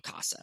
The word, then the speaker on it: Kasa: the company's name Studio Casa, right? Studio is all about artist studios. The word Casa, granted we spell it with a K as an homage to my last name, but Casa is the